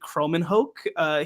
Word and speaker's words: Kromenhoek: And they also added a really, really good player in, I believe his name is pronounced Luke Kromenhoek.